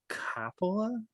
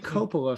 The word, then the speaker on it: Coppola: But Francis Ford Coppola. Gabagool. I've been saying Coppola for 30 years, and then I hear in interviews people say Coppola. So I'm going to continue saying it wrong.